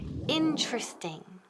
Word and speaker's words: interesting: interesting people bueno empezamos con la pronunciation de la palabra conmigo interesting repeat interesting nunca se most interesting before please no interesting so typical Spanish no so interesting can okay this syllabus in tres ting repeat interesting okay so